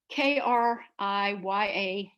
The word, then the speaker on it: kriyas: have these physical bodily movements well can you spell that what's that word k-r-i-y-a-s kriyas okay yes and in case anyone wants